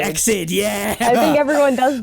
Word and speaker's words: EXID: It was Exid. Exid, yeah. I think everyone does that. Oh no, it's like it's Exid and BTOB instead of B2B, because you wouldn't normally think you pronounce the letter, then pronounce like two, and then pronounce the letter.